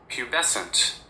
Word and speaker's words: pubescent: the definition of or knew how to pronounce is spelled p u b e s ce n t. And this is how it is pronounced. Pubescent.